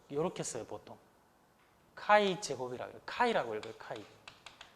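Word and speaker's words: χ: 카이 제곱이라고 해요. 카이라고 읽어요. 카이. 그리스 문자 22번째인가 21번째인가는 모르겠는데 카이 제곱이라고 해요. 카이 제곱. X라고 읽지 않고 카이라고 읽어요. 카이. 카이 스퀘어라고 그래요.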